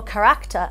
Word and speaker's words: character: So character, or kar-a-cter as they pronounced it, with the emphasis on the second syllable, was the central moral concept for my father in Hora.